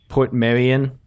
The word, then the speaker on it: Portmeirion: It's spelled Port... Portmeiron. Portmeiron? It's Meiron. Yeah, Meiron. Portmeiron or something like that. Portmeirion.